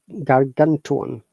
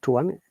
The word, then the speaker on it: gargantuan: So gargantuan, gargantuan, not tuan. T is ja sound.